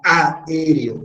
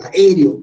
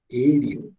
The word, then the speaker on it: aéreo: Termina en vocal, la fuerza de voz está acá, aéreo, no digo aéreo o aéreo, jamás, digo aéreo.